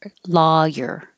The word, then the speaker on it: lawyer: There's two ways to pronounce this, so I put them on two different lines. One can be ah, like law, so just add the your, lawyer. Or you can make it more rounded and it'll sound like lo, loy, lawyer.